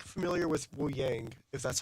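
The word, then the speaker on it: Wuyang: I'm not familiar with Wu Yang, if that's how you pronounce. Yeah, Wu Yang.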